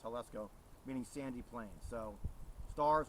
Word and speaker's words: Jalisco: So even as JAL, it's pronounced Jalisco, meaning sandy plains.